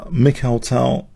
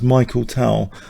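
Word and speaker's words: Mikhail Tal: The only thing I don't like is people saying Mik Tal as Michael Tal. That really gets my goat.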